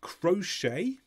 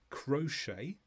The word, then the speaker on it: crochet: on the left is crochet so it comes from a French word so we don't pronounce the final T listen again crochet and the second word